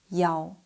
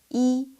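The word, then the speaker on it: 一: When reading phone numbers, room numbers, license plates, or ID numbers, the number one is almost always pronounced as yao. Why? Over a phone line or in a noisy environment, yi sounds very similar to qi, seven.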